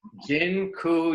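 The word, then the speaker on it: dziękuję: taught you all the a Polish word for thank you it's Jin ku yeah that I'm not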